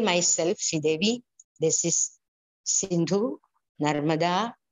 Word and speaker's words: Narmada: death ritual of Bali, when a pujari tells me, Narmatha Sindhu Kodavari, I'm disturbed. It has to be pronounced in the right way as Narmada, Sindhu, Godavari. It's all mrudus.